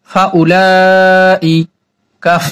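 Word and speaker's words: فأولئك: ফাউলা, হামজা জের ই, ফাউলাই, কাফ জবর কাম, ফাউলাইকা, এই ওয়াওটা এখন বাদ, ওয়াওটা লেখা আসে পড়ায় আসে না, এগুলো হচ্ছে অর্থের কারণে দেওয়া হয়, আমরা এটা উচ্চারণ করব না।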